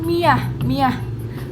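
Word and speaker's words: مائة: Imam Abu Ja'far membaca kata mi'ah itu dengan miyah. Karena saya pun pernah mendengar waktu saya belajar bahasa Arab, mi'ah itu dibacanya miyah gitu, bukannya mi'ah tapi miyah pakai ya gitu.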